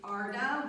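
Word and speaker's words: ardha: apologize yep i apologize it's arda which means half and that is spelled a r d h a hanu manasana so h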